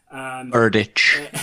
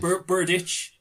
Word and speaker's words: Berdych: an example of this, Andy Murray and Thomas Berdych. I don't know if I'm pronouncing that correctly. But in the US Open in 2012, I think could have been the quarterfinal or semi-final. Berdych is the name. Berdych.